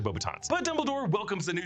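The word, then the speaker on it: Beauxbatons: And we should note that Michael Gamin as Dumbledore in this movie does mispronounce Bobatons. He says Bobatton. It's actually Bobbitans.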